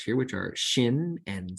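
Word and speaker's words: שין: Shin is sh as in she. There's an sh sound there.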